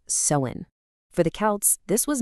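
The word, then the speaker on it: Samhain: And by the way, it's pronounced sewin.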